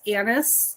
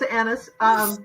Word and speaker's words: Annis: So yeah, it's Annis, and it's been mispronounced my whole life, but I can promise you I am not a rectum. No, I knew it was Annis because my boss, he was Greek and he